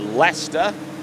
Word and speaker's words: Leicester: this is right now out of uh leester in uh out of the Eastern region uh